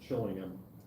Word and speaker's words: Chillingham: Then it's Chillingham. Chillingham. They don't say ham.